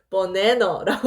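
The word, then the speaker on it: banana: 우리가 바나나라고 쓰잖아요. 지금은 바나나. 그런데 실제 그 영어권 사람들이 바나나라고 하지 않는단 말이에요. 뭐라고 발음하죠? 버네너라고 한단 말이에요.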